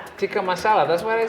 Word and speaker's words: masala: oh please say that again for now tiki marsala can i teach you how to say it yeah masala that's what i said right chicken masala so